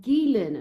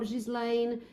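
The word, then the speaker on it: Ghislaine: Her name is pronounced Gilen, not Jislane, Gueen.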